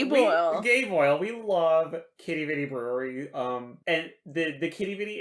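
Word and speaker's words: Quidi Vidi: Google and check out Kitty Vitty. You might have to spell that for them. Oh, they call it Quidey Videy sometimes. So it's Quidi, so that's Kitty, Vidi, Vitty.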